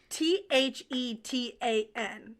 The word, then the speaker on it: Thetan: Um, but it's spelled t h e t a n. So, I would say Thetan.